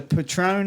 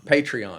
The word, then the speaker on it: Patreon: they, through, this is totally needs to be in this episode, but through, they have a, like the Patron, is that how you pronounce Alcohol? Patreon.